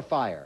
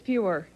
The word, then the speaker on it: Feuer: Is it Feuer or Fire? It's Feuer.